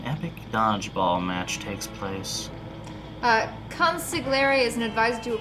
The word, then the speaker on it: consigliere: It's pronounced Consigliere, you uncultured swine.